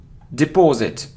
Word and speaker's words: deposit: very common mistake and it isn't deposit or deposit depos or uh deposit it's deposit deposit okay deposit so the stress is on this syllable so you see Cathedral